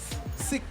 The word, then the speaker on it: Sekou: So would be my left, we have Stacey Wilson from the Wilson Law Firm, and we have, and it's pronounced Sekou.